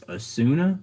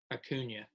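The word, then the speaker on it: Acuña: I'm gonna guess it's Asuna. Is that how you say it? Acuna. Acuna. It said Acuna is out until the NLDS with a hip surgery.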